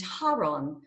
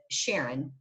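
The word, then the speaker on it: Charon: a boat person named haron or as she preferred to pronounce it sharon there was a rule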